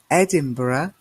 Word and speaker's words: Edinburgh: a country and Edinburgh did you spot the pronunciation there Edinburgh is the capital of Scotland and then we